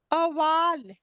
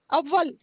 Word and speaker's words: अव्वल: बाद है रोज़ हम अवल अवल क्या होता है अव्वल थैंक यू अवल से